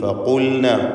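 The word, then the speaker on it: فقلنا: ഫഖുൽന ഖാഫിന് തഫ്ഖീമാണ്.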